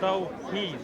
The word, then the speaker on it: Tawhid: Do you want to debate the Islamic concept of Tawhid? You already asked me. It's Tawhid. Do you want to debate it though? It's Tawhid. Yeah, pronunciations apart.